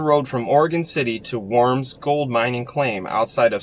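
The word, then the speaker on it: Warm: Herman Kermit, worm, it's pronounced like worm, is going to die.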